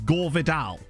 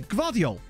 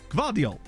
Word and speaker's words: Gvardiol: believe was Lee Dixon, repeatedly mispronounce his name, but like multiple different ways? Like I swear at one point he called him Gore Vidal. Like, he's definitely called him Garvidal several times, but I'm certain I heard him say Gore Vidal once. It was just incredible. It's not even that hard to say.